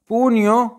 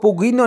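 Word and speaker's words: pugno: आगे जी पूनियो मुट्ठी, इसको पुगीनो नहीं पढ़ देना। ठीक है, ये जी है ये साइलेंट है।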